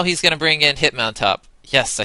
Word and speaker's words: Hitmontop: So now he's going to bring in Hitmontop.